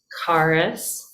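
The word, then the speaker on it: χάρις: it could be character it's really kind of a k sound um karus karis remember that's an r carus this is word for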